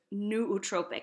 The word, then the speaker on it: nootropic: So it's considered an anti-aging sort of nootropic. That's a new word that maybe you haven't heard before. It's spelled Nootropic.